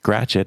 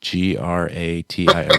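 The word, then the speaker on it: Gratiot: how to pronounce anything, Gratchet is spelled G R A T I O T. Gratio, right? Like Detroit. It's not like G Ratchet, right?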